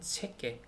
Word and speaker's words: cheque: 깨는 QUE 요거를 이제 깨라고 읽더라고요. 그러니까 CHEQUE 이렇게 하면은 체계 이렇게 하면 됩니다.